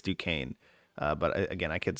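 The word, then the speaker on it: Duquesne: to say this today you say it Duane oh that due I think so I I almost heard that's how they were saying it I could still be wrong but it it phonetically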